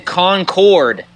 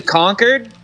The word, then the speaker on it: Concord: me this weekend was everyone saying Concord oh my gosh like you can't say conquered that's what they say